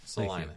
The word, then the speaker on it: Salina: Now that I know it's pronounced that. Salina, Thank you.